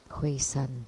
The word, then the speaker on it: Hui-san: So the pronunciation San is San 3, 1, 2, 3, 3, not San Mountain. So Hui-san, the old monk Hui-san, he practiced Uchishima Heruka.